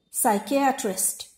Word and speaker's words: psychiatrist: Psychiatrist. P is once again silent, which is in the beginning.